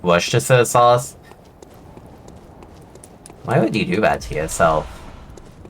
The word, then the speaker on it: Worcestershire: right when you say Worcestershire sauce correctly. I'm just like, dude. Dude, it ain't my fault that you don't even pronounce the Shire part in your fucking, town name.